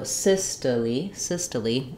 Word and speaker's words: systole: O say its name this doesn't follow that rule so syy syy unusual pronunciation then when we change